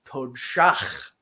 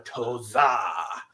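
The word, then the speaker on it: toDSaH: And this is another one that we hear pronounced incorrectly in Next Generation when a Romulan tries to insult Worf, you hear him call him a toza, which is just todshach.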